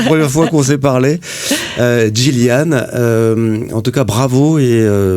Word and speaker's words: Yilian: Gillian, qui s'écrit Iliane pour les Français. Hein. Oui, Y-I-L-I-A-N. Voilà, on se plante toujours. Hein. Oui. Moi-même le premier, la première fois qu'on s'est parlé. Gillian, en tout cas bravo